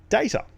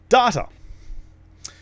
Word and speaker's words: data: when it comes to how people pronounce the word data if people had parents who watched TNG or watched TNG themselves or associate with people who have been brought up that way then they'll pronounce it data if you did not